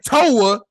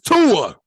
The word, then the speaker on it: Tua: I think it, and I don't know if it's the Chicago accent or if I'm tripping, but I think it's you saying Toa and it's Tua.